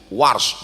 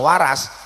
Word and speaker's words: Warsh: Saya dikit-dikit tahu qiraat Warsh karena guru Warsh, bukan Waras.